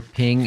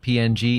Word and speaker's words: PNG: Hike says, or ping instead of PNG.